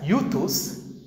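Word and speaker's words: εὐθύς: In fact, Mark the Evangelist uses this word immediately in Greek, pronounced as euthus, 42 times.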